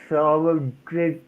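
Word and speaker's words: Solingen: okay the SOLING is pronounced solid.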